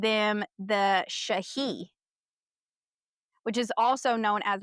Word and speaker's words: Sidhe: It's spelled Sidhe, but it's pronounced Shahi because I Shahi.